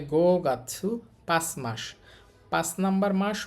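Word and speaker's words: 五月: এটা হচ্ছে মাসের কাঞ্জি উচ্চারণ হবে গাছু তাহলে গো গাছু পাঁচ মাস পাঁচ নাম্বার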